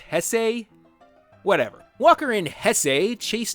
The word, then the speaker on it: Jesse: So later, in the endless Dodge Ram commercial that is Walker's life, Walker and Mendoza's chief security officer Jesse Rodriguez, wait, shouldn't that be pronounced Hesse?